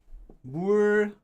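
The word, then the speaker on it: 불고기: Anyway, but that's the reason why it's pronounced as bulgogi when you read it, because originally this word was bulgogi.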